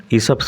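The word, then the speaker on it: Aesop: এন্ড the frog from ইসপস ফ্যাভেল উচ্চারণ লক্ষ্য করো ইসপ ইসফস ফ্যাভেল একদিন তিনি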